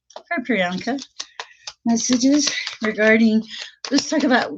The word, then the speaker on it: Priyanka: For Priyanka.